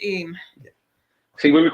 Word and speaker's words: Eyam: EYAM. Pronounced Eam.